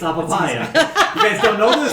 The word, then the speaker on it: Apapaia: How do you spell It's it? like papaya, but with an I, and I put an A in the front. Ipapya or I or Yeah, right here. A. I know I can't. Apapaia.